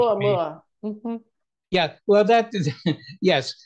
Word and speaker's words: Oumuamua: Kind of like that Uno Muno idea. Is that how you pronounce that? That Avi Loeb's idea that the... Oh, Oumuamua, I think. Oumuamua.